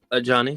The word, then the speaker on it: Ajani: It should be spelled like A in front of Johnny, but we're not.